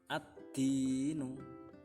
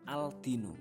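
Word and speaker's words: الدين: Contohnya ad-dinu. Ad-dinu, bukan al-dinu tapi ad-dinu, ya. Alnya tidak ditampakkan.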